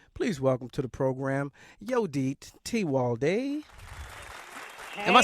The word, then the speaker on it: Yodit Tewolde: Yodit Tewolde. Oh, okay. You got to have the roll of that tongue.